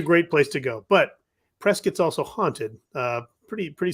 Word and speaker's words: Prescott: go was Prescott Arizona which is looks like it's spelled Prescott but it's actually pronounced Prescott which is I don't know I don't know